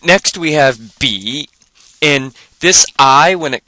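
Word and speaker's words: 笔: the number one so we just put a b before it and we come up with B but this is a third tone so we have b b b and this means pen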